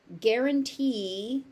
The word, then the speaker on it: guarantee: Those 2 E's are actually pronounced as E at the end. Be cautious, because in some languages, guarantee is a word that we would use in English as warranty.